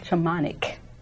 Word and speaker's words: Shamanic: And today's guest we have who is a Reiki, a psychic medium, and how you pronounce that word? Shamanic? Shamanic.